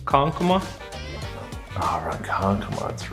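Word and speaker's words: Ronkonkoma: Ah, Rankankoma, that's right.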